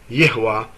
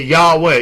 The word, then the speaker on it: Yahweh: of the name of Yahwa is Yah. But if someone goes around and say Yahweh Yahweh well that's not correct.